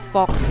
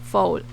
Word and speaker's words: faux: This one, it has like fox leather. Fox, is that how you pronounce fox? Faux. Wait, I'm a reader. I should be able to pronounce this right. I think it's faux.